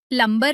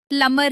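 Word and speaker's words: plumber: Doubt और सल याद रखिए प्लमबर नहीं सही शब्द प्लमर है।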